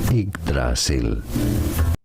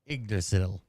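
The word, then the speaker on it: Yggdrasil: any unwanted visitors from so how do you pronounce that well in most Norse languages this is said as igdrasil igdrasil igdrasil igdrasil igil ustr whatever close enough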